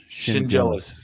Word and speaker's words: Schendzielos: So if you do your shin and you're jealous, you're jealous of your shin. Schendzielos. Yeah. The D and the Z, you pronounce like a J.